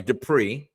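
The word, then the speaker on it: Dippre: If CJ Dipper, if the Patriots are going to carry three tight ends and CJ, sorry, Depri mispronounced his name.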